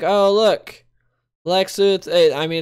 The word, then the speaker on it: Luthor: Lex Luthor spelled with an O, not an E. Some of my pet peeves. Everyone always going Lex Luthor. It's Lex Luthor.